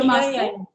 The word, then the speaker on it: Brahmastra: And I also watched Brahmastra. If am I Okay. pronouncing it correctly? Yeah, Brahmastra.